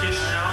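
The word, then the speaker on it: Chișinău: It's pronounced Chisinau.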